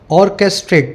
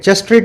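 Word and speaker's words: orchestrate: Spelling देख लेना इसकी, ऑर्केस्ट्रेट, चेस्ट्रेट नहीं है, ऑर्केस्ट्रेट।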